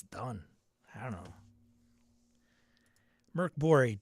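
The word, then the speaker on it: Mörk Borg: Merc Bori, Dark Fort has the Swedish pronunciation. Pirate Bori is English and doesn't.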